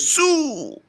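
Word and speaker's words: Siu: No, he goes, HH goes, "See you." saw someone. Wait. That's how it was spelled. It was spelled S-I-U. I think the I is silent, bro. Also, it's Sue.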